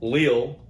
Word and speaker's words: Lille: Lille, I think I finally pronounced it right. Lille in France is gonna be a lot of fun.